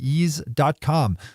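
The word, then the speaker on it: Eaze: all by opening up is calm which is spelled e a ze assuming you live in a part of California where delivery is allowed and where ease is active you could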